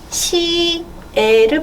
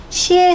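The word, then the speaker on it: 写: 그러면 칭을 앞에 붙이고 네, 한자로 쓰고 발음은 네, 이런 것들 붙일 수 있는데 얘는 쓸 사자 한자로 사자고 발음은 시에를 붙여서 삼성 시에 삼성 시에 앞에 칭만 붙여주면 돼요.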